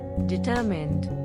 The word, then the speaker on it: determined: word determined the pronunciation is very easy availables and the emphasis on second syllable D tour means